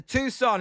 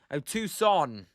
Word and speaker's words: Tucson: And Scott L um says a Tucson is how it's pronounced. Long o Tucson.